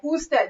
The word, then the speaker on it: usted: Usted.